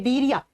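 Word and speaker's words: Cnidaria: है आपको ठीक है दूसरा आता है डीरिया से लिखा जाता है प्रोनाउंस करते है तो एन से किया जाता है डीरिया ठीक नंबर टू पर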